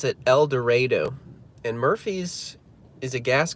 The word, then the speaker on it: El Dorado: El Dredo. not El Dorado, even though it's spelled Elor Dorado.